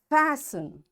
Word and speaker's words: fasten: these words are listen fasten castle orphan whistle soften hasten bustle and gourmet in all these words letter t is silent so in this way